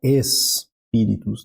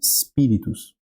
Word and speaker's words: spiritus: In nomine Patris, et Filii, depois eu tenho et novamente, Spiritus Sancti, então aqui vai estar aqui a minha sílaba tônica, né? E esse S, eu não vou colocar espíritus, né? Vou botar só um spiritus, é só uma saída de ar, né?